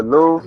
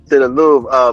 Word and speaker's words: Louvre: I'm gonna let y'all know when I get to the how you pronounce it again? The Louvre.